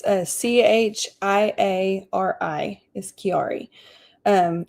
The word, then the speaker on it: Chiari: Okay, it's c h i a r i is Chiari. Um it's actually called Arnold Chiari. Arnold spelled like the name Arnold.